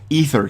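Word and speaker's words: aether: in this word because I usually say it properly or I usually don't say it properly you get an eer ether key now usually I say an Eder key because I grew up saying Eder even though now I know the word is ether but you you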